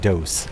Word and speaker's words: DOS: Microsoft had just delivered Windows 95, an incredibly vast improvement over Windows 3.1 in DOS, or as I like to pronounce it, DOS, like the Spanish word for two.